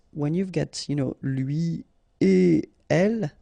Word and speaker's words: lui et elle: So no links after et. Okay, so if you want to read it correctly here, it will go like lui et elle. All right, so don't think about putting something between the two. Don't think about producing something like lui et elle. No, no, no, nothing here. Lui et elle.